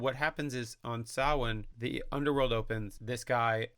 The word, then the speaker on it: Samhain: But one Samhain, Finn McCool was there. I think it's pronounced Savain. Is it Samhain? It's spelled Samhain. Yeah. But I think it is pronounced Savain.